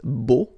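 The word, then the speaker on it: beaux: it's bull okay so you put this X at the end but then you don't pronounce it so it's Bo all right Bell boom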